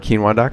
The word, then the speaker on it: keenwah: check out I heart quinoa calm like I said spelled phonetically k een wuah dot-com sir I always